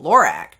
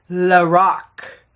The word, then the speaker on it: Lorac: I'm like oh cool Lorac uh-uh I was wrong the woman who founded the company her name is Carol Shaw and this name is actually her name Carol backwards so she pronounces it lorck so that sounds a